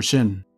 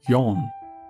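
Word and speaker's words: 四: 4N is the perfect song name for Shin. The number 4 in Japanese can be pronounced either Shi or Yon.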